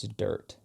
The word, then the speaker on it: DRT: But and it stands for, is how you say it is, it's dirt.